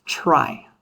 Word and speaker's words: trie: like this, but and it comes from the word retrieval, but we pronounce this data structure as try.